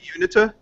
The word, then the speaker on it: Uinta: I'm pronouncing it horribly. It's Uinta is the word. Dude, pumpkin. Oh. Unita.